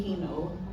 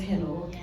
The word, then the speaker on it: Hino: can filter out adrenal those of you who knew me prior called me he know but from now on I am known as Hino I'll repeat it again my name is pronounced as Hino say it again thank